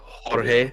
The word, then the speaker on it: Jorge: Roll the R, Jorge.